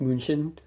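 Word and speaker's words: München: are originated from munich or in german it's pronounced moonshin i i looked that up because you can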